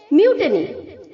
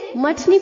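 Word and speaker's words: mutiny: है म्यूट नहीं okay M के आगे जो यू है उसे हमें वा डबल ओ की तरह प्रोनाउंस करना है म्यू म्यू ओके बहुत सारे बच्चे इसे मटनी प्रोनाउंस करते हैं गलत है बच्चों मटनी नहीं होता है नो मटनी चटनी म्यू टनी ओके एम के आगे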